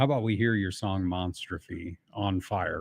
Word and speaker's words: Monstrophe: are listening uh m-o-n-s-t-r-o-p-h-e so I guess the way we kind of thought about it is it's like a combination of monster and catastrophe so you get the